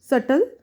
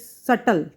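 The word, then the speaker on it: subtle: सटल not easily understood. It's सटल. बी is silent here.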